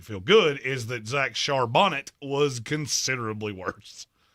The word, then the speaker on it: Charbonnet: good is that Zach charbonnet was considerably worse I only say his name correctly when he's good I know his shonet I don't care it's Shar Bonnet when you a when